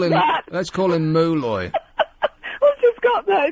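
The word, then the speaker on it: Moloy: Anyway, his name is Malloy, or Mulloy. Let's call him Mulloy. I've just got that. It's spelled M-O-L-O-Y.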